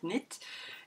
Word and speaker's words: knit: on dit net, c'est comme par exemple quand on dit le verbe savoir en anglais c'est know, qui s'écrit K-N, et on dit pourtant know et pas know. Voilà, donc knit.